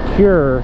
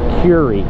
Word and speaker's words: Kure: and into Kure Beach which I was mistakenly pronounced pure beach for a couple years until somebody told me otherwise but its Puri we roll into that which is mostly beach